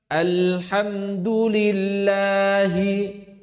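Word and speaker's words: الحمد لله: Maka kalau membaca alhamdulillahi coba. Alhamdulillahi. Kalau saya membacanya seperti ini, alhamdulillahi. Apa salahnya di sini? mensidakkan huruf lam sampai terjadi qol q. Padahal lam tadi sifatnya apa tadi? Bainiah, pertengahan. Enggak boleh sidah.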